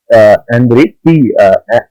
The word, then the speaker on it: Andrei: फिर foreign policy के लिए बुक आती है एंड्रे सिगांतो की, स्पेलिंग में थोड़ा डिफरेंस है। एंड्रे ANDREI सिगांतो, सिगांतो में टी साइलेंट है।